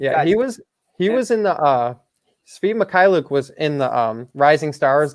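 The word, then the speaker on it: Svi Mykhailiuk: I don't know how to pronounce his last name. I think Maliku or something like that. Oh, Svi Mikhailuk.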